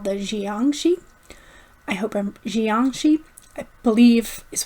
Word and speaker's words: jiangshi: Jiangshi, I believe is how you pronounce it.